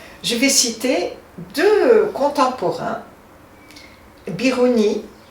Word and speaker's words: Biruni: Je vais citer deux contemporains, Biruni, je vais le prononcer à la française, et Ibn Haytham, qu'en latin on appelle Alhazen.